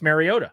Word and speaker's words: Mariota: What what he is bothered by is Mariota, not Mario.